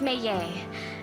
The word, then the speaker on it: Meillet: Cap all right so it's pronounced almost with a Y where the Double L is May okay may